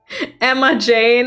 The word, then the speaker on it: Imogen: And if it's someone that doesn't really matter if they know my name, I tell them it's Emma Jane. It sounds basically the same as Imogen. Oh no, that's so true.